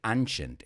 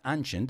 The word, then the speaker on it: ancient: people in ancient mesopotamia careful with this one too i've heard a lot of students say ancient it's not ancient it's ancient in ancient mesopotamia beer